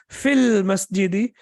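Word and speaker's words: في المسجد: and then after that and when you pronounce it as a complete construction you will say Phil masjidi in the Masjid then it will not be pronounced in namasjid so look at this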